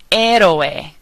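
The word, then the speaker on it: héroe: amaka the second word er means hero notice that we're not pronouncing the H ER ospital Hospital hisor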